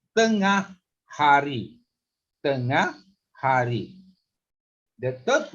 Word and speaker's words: tengah: It's two syllable. Tengah hari.